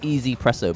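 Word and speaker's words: 1Zpresso: like it's it's it's it's pronounced easy presso but it's actually one zed presso grind setting I used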